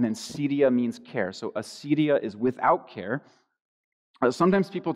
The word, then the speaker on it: acedia: It's spelled, if you're wondering, it's spelled A-C-E-D-I-A.